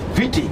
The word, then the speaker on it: Viti: for us, so why not we call it Vitika, which means breaking branches of trees. The word Vitika is a Fijian word, breaking branches of trees. V-I-T-I-K-A. Soon, everybody came to an agreement. We'll call this island Viti, from the word Vitika.